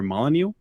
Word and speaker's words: Molyneux: But I do remember when Peter, I always get his last name wrong, Peter Molyneux.